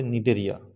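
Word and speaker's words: Cnidaria: দেখো স্পেলিংটা সি এন আই দিয়ে শুরু। কিন্তু উচ্চারণটা হবে নিডেরিয়া। আরেকটা টিনোফোরা।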